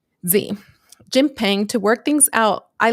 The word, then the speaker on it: Xi Jinping: Xi Jinping to work things out.